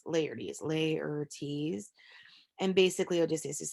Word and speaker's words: Laertes: So how do you pronounce Laertes? Laertes.